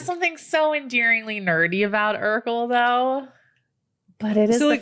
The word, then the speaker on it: Urkel: spelled the same yes not irkel no urkel fresh prince hands down